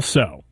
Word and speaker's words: Tso: said neither is right General so it's General so's chicken huh so the tea is silent all right does that